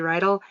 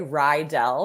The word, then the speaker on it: Reidl: your last name Kelsey you actually pronounced it perfectly most people say ryell because they've watched Greece before and the high school is ryell high so I usually get that but you said it right it's like a horse